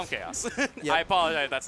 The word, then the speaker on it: Khazous: So it's Khazous. The name was weird to pronounce earlier. But the TO McBee just said he said chaos and chaos. Was like, ah, that's probably right.